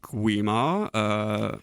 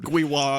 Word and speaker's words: Gwi-Ma: Like there's something about a W immediately followed by an M, and it's just like it confuses my mouth. You went Gwi-Wa a few times.